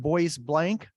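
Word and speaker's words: Bois Blanc: has ever been to blablanc Island um often pronounced boys blank Island it's near Mackinac Island um it's it's really neat well Eber Ward's father was the Lighthouse Keeper for several years at wobblanc island and Eber lived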